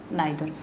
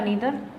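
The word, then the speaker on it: neither: Each, आइदर एंड नाइदर। इसे ईदर या नीदर, इनका दोनों प्रोनाउंसिएशन सही है। ठीक है, इसे आइदर भी पढ़ सकते हैं और नाइदर भी।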